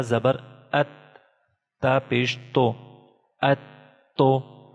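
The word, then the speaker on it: أَتُّ: This Ta is Tashdeed symbol, and Ta should be pronounced one time with Hamza and one time again. So it is just like Hamza Ta Zabar At. Ta pesh to. Atto. Atto.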